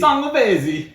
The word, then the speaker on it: Sangiovese: You gotta say it right. 2022. Think Italian. Think Italian when you say it. How would an Italian person say it? Think Mario and Luigi. Sangiovese That's better.